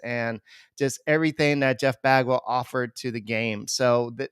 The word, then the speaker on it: Bagwell: love with the Houston Astros and his name rhymes with agwell uh it's Jeff Bagwell uh this guy and he's up there on